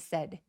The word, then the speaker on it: said: and 그래서 and라고 드 소리는 잘 내지 않아서 and said and said라고 해 주세요. 그리고 슬픈 거는 sad인데 턱을 엄청 길게 벌려서에 소리가 나는데요 말했다의 said는 굉장히 빠르고 뾰족한 턱을 거의 벌리지 않는 소리예요. said요 정도예요.